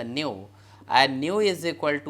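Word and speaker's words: ν: called frequency frequencies layer represented by Nu we pronounce it as a new and new is equal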